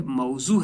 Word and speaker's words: موضوع: بچوں اس کا صحیح تلفظ جو ہے موضوع ہے، میم کے اوپر زبر ہے اور اس کے بعد زے کے اوپر پیوش ہے، یعنی موضوع الفاظ.